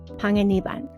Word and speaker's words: Panganiban: I'm really happy to have on the podcast today Panganiban and she just taught me how to say her name in the correct Filipino way.